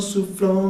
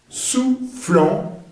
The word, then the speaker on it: soufflant: el sonido nasal en, soufflant, OU se pronuncia U, soufflant, dans, bastante sonido